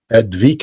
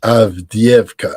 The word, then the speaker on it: Avdiivka: I think it's not Advika. I think it's Avdiivka.